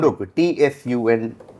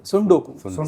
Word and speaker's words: tsundoku: Sundoku. TSUNDOKU. Comes from a Japanese language, which is Pronounced as Sudoku. Sundoku. Starts with a T but pronounced with an S.